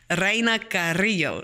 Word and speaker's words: Raina Carrillo: you know, even though my dad says, say it like you mean it, Raina Carrillo. So that's how I'm supposed to actually say it.